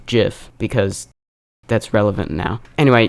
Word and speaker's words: GIF: this is why I mentioned earlier that it's pronounced GIF because that's relevant now anyway you want to